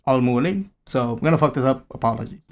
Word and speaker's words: Al Mualim: In the game, they pronounce it like this, Al Mualim, but there are characters who refer to him as Al Mualim.